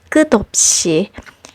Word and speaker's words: 끝없이: In cases where a syllable ending with a consonant sound is followed by a syllable that begins with a silent consonant, or essentially a vowel sound, what happens is that the silent consonant borrows the sound of the previous final consonant.